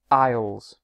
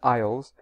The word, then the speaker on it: isles: and also the word Isles remember that the word islands and Isles has a silent S so the exam is